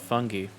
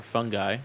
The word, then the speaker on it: fungi: By the way, if you don't know anything about fungi, or fungi, depending on how you want to pronounce it, both are acceptable.